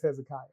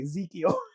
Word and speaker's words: Hezekiah: I think it's Hezekiah, but I would say Ezekiel. He's like, "It's Hezekiah."